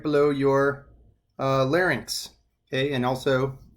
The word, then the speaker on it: larynx: Now, the thyroid is famously located right below your larynx, okay? And also it's pronounced larynx, not larynx.